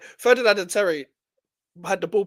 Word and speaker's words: Ferdinand: Like Ferdinand and Terry had the ball playing ability, and they had physicality.